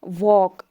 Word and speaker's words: walk: जैसे वॉक, जो ये WALK है, इसको एल हम पढ़ते हैं नहीं पढ़ते हैं ना, तो वॉक।